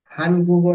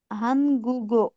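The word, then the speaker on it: 한국어: इसका जो प्रशन है उच्चारण से होगा अंग गु गो हंग गुगो हन नहीं हंग गुगो अंगो है ना ये देखिए ये अंगो साउंड है ना ओके ओके हंग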